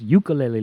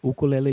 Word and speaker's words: ukulele: calling this for years ukulele lady but it's actually oh cool le lady why is that well because there is no letter Y in the Hawaiian alphabet everybody the letter U is pronounced whoo so it's oh cool